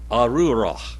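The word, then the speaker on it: ארורה: Arura. Arura. Arura. Say it together, and you roll the R just a little bit.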